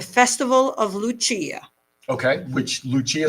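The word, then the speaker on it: Lucia: of Luchia okay which Luchia sounds like lights the Opera that is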